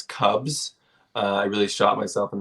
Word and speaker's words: CVBZ: So it's spelled CVBZ. It's Cubs.